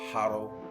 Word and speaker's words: hodl: Like, so if you are not familiar with cryptocurrency culture, you don't know what hodl means.